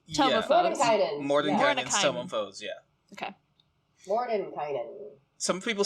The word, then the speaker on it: Mordenkainen: Mordenkainen. Some people say Mordenkainen as well.